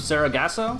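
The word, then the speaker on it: Sargasso: never pronounce this episode how do you pronounce the name of the episode the next we have ghosts of Sarah gasps Oh Sarah gasps oh I believe that's correct okay so ghosts of Sarah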